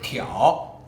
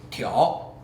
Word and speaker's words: 挑: フォア前のフリックは中国語でティオ、ティオ、そういう発音になります。